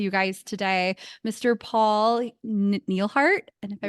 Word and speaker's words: Nelhart: Paul Nelhart. And if I pronounce it, Nelhart, yeah.